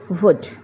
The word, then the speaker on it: would: When we are pronouncing would, we pronounce WOUD. L is silent over here. The letter L is silent over here. So you will pronounce it as would.